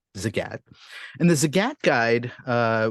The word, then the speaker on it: Zagat: his wife Nina um always used to say that it rhymes with the cat so that's how I know it's pronounced Zagat and the Zagat guide